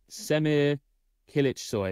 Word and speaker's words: Semih Kılıçsoy: And today we are talking about, and I've had a lot of help from Lara with the pronunciation, I'll probably still mess it up, Semih Kılıçsoy.